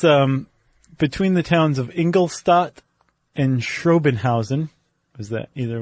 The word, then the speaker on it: Ingolstadt: No, I mean technically you should say like "Shtat" instead of "Stat".